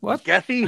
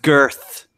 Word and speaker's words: Goethe: Gethy? Who's Gethy? Goethe. Who's Yeah. Greta? Greta who? What kind Is of it goat? No. Is it pronounced Goethe or Goethe or none of the above? It's pronounced girth.